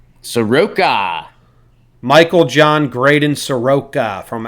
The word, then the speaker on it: Soroka: Looks, according to Baseball Reference, it's pronounced Soroka. Soroka.